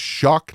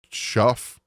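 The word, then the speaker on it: Shough: crap out of me it's shuck not Shuff it's really confusing but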